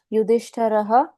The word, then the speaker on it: युधिष्ठिर: लेकिन वो र का उच्चारण पूर्ण करना होता है। ओके। जैसे युधिष्ठिर उवाच हम्म।